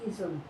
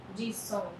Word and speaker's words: Jisung: Jisung के Jisung. Jisung. Song is song. Song में फिर ओ नहीं Song. I think that's how I pronounce it. Jisung. Jisung. little bit of nasal वाला थोड़ा सा मुझे ऐसा लगता है.